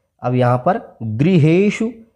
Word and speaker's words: गृहेषु: अब यहाँ पर गृहेषु, अब इसको अगर ग्रहेषु पढ़ेंगे तो गलत हो जाएगा। इसको गृहेषु इस तरह से री का उच्चारण करें।